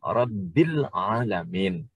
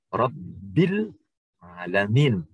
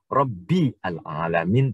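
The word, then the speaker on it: رَبِّ الْعَالَمِينَ: Sehingga kalau kita bacanya A-nya tidak perlu dibaca, langsung B yang ada di kata-kata Rabbi menuju ke lam. Sehingga bacanya menjadi Rabbil Alamin. Tidak perlu dibaca Rabbi al-Alamin, tidak. Tetapi Rabbil Alamin.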